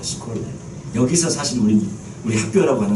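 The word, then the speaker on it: σχολή: 두란노 서원, 여기 서원이라는 헬라어 단어가 어떤 뜻이냐면 헬라어 단어가 발음 스콜레예요. 스콜레.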